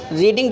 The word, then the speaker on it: read: अब रीडिंग जो लिखा हुआ था इसका हम थर्ड फॉर्म प्रयोग करेंगे। थर्ड फॉर्म भी स्पेलिंग यही होती है READ, लेकिन उच्चारण थोड़ा डिफरेंट होता है।